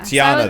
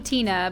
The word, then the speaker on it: Tiana: Tiana, there we go. I was close. I was thinking Tina, but yeah, there was definitely another syllable in there.